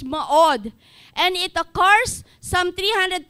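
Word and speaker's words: מאד: for strength is maud yung spelling niya me od pero yyung pron pronunciation niya is ma od and it occurs some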